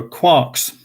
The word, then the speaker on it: quark: made up word uh rhymed with mark um you don't really